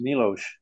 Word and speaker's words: Miloš: But the S in their language is pronounced like an SH. Mm-hmm. We had one of the guys that worked for us, PhD, was a, his name was Miloš Makacek.